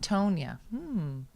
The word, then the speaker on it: Tania: All right, let's talk about the pronounced Tonya.